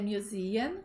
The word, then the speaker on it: museum: What are the opening hours of the museum? Quais são os horários de abertura do museu? E aqui a gente tem que tomar um cuidado que o som é de Z, museum, right?